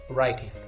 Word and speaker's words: writing: too easy for you so the missing silent letter is double you excellent the word is correct now the full sentence must be reading is easier than writing sentence number three I